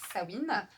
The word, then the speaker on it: Samhain: plus de l'histoire de samhain puisque ça se prononce sabine et j'ai encore beaucoup